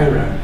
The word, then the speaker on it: Era: O sea, sería diferente a Ira y tal. Y pues, al casarse con Kedley, entonces ella optó por poner E-R-A, que de alguna manera disimulaba, pero también se pronunciaba Ira, en inglés.